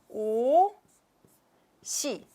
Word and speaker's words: 옷이: So 옷이 큽니다. Remember, this bracket is the signal of the pronunciation, not the writing form. So when you write, this is correct, but when you pronounce, this is correct.